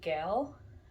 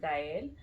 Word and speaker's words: Gael: um, I guess you would say Gail. I don't know how you would pronounce that name in English, but I know but in Spanish you would pronounce it Gael, and it's a nice name.